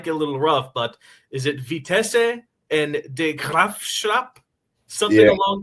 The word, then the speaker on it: Vitesse: So in the Netherlands, we actually say Vitesse. That's right. Nice. But it's actually a French word, which is vitesse, which means speed. But we pronounce it as Vitesse in the Netherlands.